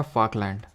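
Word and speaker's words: Falkland: एफ से हो जाएगा फाकलैंड, ठीक है, ध्यान से देख लेना, फाकलैंड है, इस तरह से प्रोनाउंसिएशन पे मत जाना।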